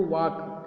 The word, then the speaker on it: walk: जैसे पहला लेटर लिखा है वॉक, अब देखिए यहाँ पे बोल रहे हैं इसको वॉक, जबकि यहाँ पे एल की आवाज़ नहीं आ रही है, जबकि स्पेलिंग में क्या है?